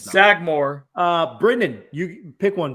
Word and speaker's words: Sagamore: i think it's pronounced sagemore i think it's not it's sagmore uh brendan you pick